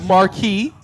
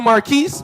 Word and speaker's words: Marquis: My name is, some people call me Marcus, but the correct way to say it is Marquis. But people in the hood call me Marquise or.